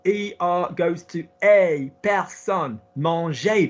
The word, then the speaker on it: manger: Manger. The infinitive. Look at the infinitive. M-A-N-G-E-R. Manger. ER goes up.